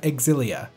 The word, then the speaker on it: Xillia: it's pronounced tales of Xillia yes you do pronounce the X as X and not Z as you would if it were an ordinary English word like xylophone before I had this